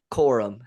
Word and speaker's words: Corum: Corum.